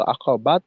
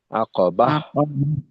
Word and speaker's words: العقبة: তো এখানে কিন্তু আকাবাত না হয়ে আকাবাহ।